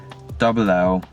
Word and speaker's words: Llandow: After this, go into the search bar and type in Llandow, which is not Lando Norris, it's not spelled like that, Llandow, Llandow karting, and just